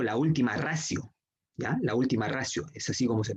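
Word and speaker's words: ultima ratio: La última ratio, es así como se pronuncia, o como normalmente se conoce, la última ratio, ¿no?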